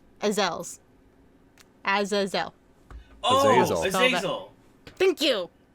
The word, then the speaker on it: Azazel: Astrox. What? Who? I might have pronounced his name wrong once.